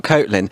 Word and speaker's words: Kotlin: I thought it was Kotlin, not Kotlin.